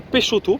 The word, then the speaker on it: Peixotto: à l'arrivée des photos peixotto les bordelais dites moi comme on dit moi je dirais plutôt peixoto personicx se prononce souvent ch dans le coin mais voilà on est